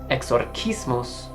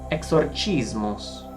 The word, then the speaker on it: exorcismus: However, in Latin, traditionally, the correct spelling is this, and is pronounced either exorcismus or exorcismus.